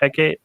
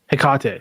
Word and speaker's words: Hecate: or something like that is that hecke yeah I got a Hecate sorry okay yeah I like